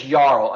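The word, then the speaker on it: jarl: ad there was this yarl a Yaro is a Viking king so they called him yarl with a J but it's a y right just like U so anyways what happened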